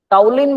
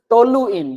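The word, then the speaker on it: toluene: जाएगा इसको बोलते हैं टोल इन टलिन बोलते हैं जनरली लेकिन ध्यान से पढ़ोगे this is टोल इन नॉट टलिन मैं इसको टोल इन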